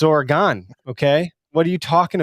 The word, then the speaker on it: Oregon: like, it's not Oregon, it's Oregon. I'm like, bullshit. There's an O right there. It's Oregon.